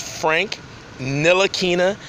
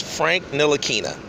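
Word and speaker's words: Frank Ntilikina: quick his name is Frank nil aquinnah the T is silent most people know this but is still people jacking up his name it's a very easy name to say it's Frank nil Akina you know and I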